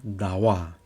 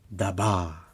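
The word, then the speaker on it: ཟླ་བ: so in this case this one wa we have to pronounce okay just like a dawah it's a moon so you don't call like a daba even you can remember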